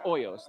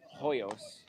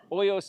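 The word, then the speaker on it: Hoyos: And I shouldn't be pronouncing the H, you know. It's OOS, not Hyos. He's Oyos is huge.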